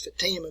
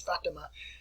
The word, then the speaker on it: Fatima: name as Fatima Fatima some people in our country pronounces it as Fatima but it's fattima Stanley Freeman long history